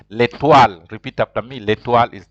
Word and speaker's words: l'étoile: So you pronounce l'étoile. In French, when O and I meet, it is pronounced like wa. That's why you say that's why MOI is moi.